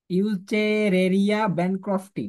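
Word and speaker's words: Wuchereria bancrofti: হচ্ছে দ্বিপার্শীয় প্রতিসাম্য এবং সিউলতে হচ্ছে সুডেসিলোমেট এটার উচ্চারণটা মনে রাখবা ইউরেরিয়া ব্র্যান্ডক্রফটি ইউরেরিয়া ব্যানক্রাফটি ঠিক আছে আচ্ছা এবার আসো মলাস্কাতে মলাস্কা থেকে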